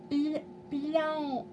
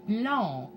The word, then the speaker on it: blanc: Blanc. Blanc. No, you can't say it with a k in the end. Say blanc.